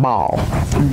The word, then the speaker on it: Baal: Well, I looked up the pronunciation, they called it Baal.